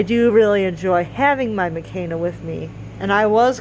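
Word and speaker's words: McKayna: name is mccaina so even though it's spelled m as k e n a it's pronounced mechana so it's pronounced m a k a y n a so it's pronounced that way so it's not pronounced the same way as mckenna so it's not just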